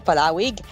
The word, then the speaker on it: Palauig: as Masinloc, Olongapo City, Palauig, there we go, Palawig, as well as in San Antonio, San Felipe, San Narciso, Santa Cruz, and Subic.